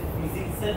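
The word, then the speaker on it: PyZX: দিছে হচ্ছে age usual পাই zx হচ্ছে ফিজিক্সের মত বাট এইচটা নাম হ্যাঁ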